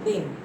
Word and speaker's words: दीन: तो इसको हम लोग पढ़ेंगे दीन और ये कहेंगे दिन।